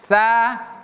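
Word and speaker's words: ث: Jadi bukan sa si su tapi tsa tsu. Fabiayyi hadisin hadisin tssa tsu. Oke. Jadi berbeda antara tsa dengan sin.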